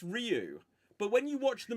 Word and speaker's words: Ryu: movie they clearly say rayu and why you defending that movie Loud before 1994 why are you defending so how are you how are you supposed to pronounce it right well apparently is Ryu but when you watch